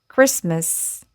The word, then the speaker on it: Christmas: Christmas listen.